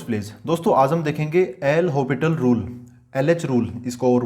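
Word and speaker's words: L'Hôpital: इसको और बोलते हैं देखो इसकी स्पेलिंग में तो वैसे हॉस्पिटल वाली स्पेलिंग है लेकिन है ना इसका जो एस है वो कुछ इस प्रकार साइलेंट रहता है तो इसको बोलते नहीं है प्रॉपर अगर आप प्रोनंसिएशन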